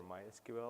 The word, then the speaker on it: MySQL: always ask me like is it my SQL or MySQL or whatever um so the official way to pronounce it is MySQL but we're open for